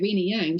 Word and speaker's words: Rina Yang: Yeah, Rina Yang.